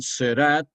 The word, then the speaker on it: Seurat: después que es el puntillismo que lo introdujeron serat que se escribe seurat será seurat y signac se pronuncia